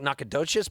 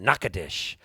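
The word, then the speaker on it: Nacogdoches: way nakadish sounds because it looks like it's spelled like nakadochis but they pronounce it nakadesh and i love saying nakadish and that got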